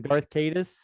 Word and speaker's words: Darth Caedus: Darth Caedus, Jason Solo, when he became Darth Caedus, is that how it's pronounced?